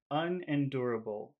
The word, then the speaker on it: unendurable: to say the word unendurable how many syllables are in that word unendurable how many syllables